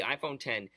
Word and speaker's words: iPhone X: So it's the iPhone 10.